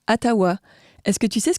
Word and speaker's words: Ottawa: Et maintenant, si on revient aux origines, Otawa se prononce Atawa.